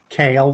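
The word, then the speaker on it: Kaal: for the record uh yes uh I kale that's spelled k a a l and Mr kale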